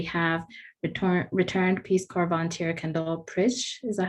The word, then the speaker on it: Kendall Pritsch: And so we have returned Peace Corps volunteer Kendall Pritsch. Is that how you pronounce it?